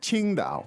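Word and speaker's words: Tsingtao: you know impress with your tones because it's Ching da okay all right oh God uh so that way Giles pronounce spelling system is uh it can be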